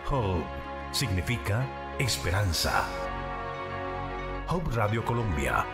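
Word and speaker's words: Hope: Se escribe H-O-P-E. Se pronuncia Hub.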